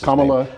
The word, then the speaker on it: Kamala: By the way, there's been a debate about pronunciation of Kamala Harris. Kamala.